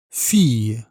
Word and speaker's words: fille: Et pour le féminin, fille, avec le son I.